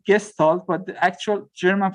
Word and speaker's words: Gestalt: okay so again for gestalt i mean the english pronunciation is gestalt but the actual german